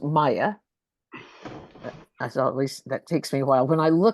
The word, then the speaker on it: Miah: intro to Maya and the name is pronounced Maya as Le that takes me a while when